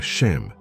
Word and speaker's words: Shem: O nome que define esta guerra pelo seu pertencimento pode finalmente ser pronunciado. A palavra é Shem.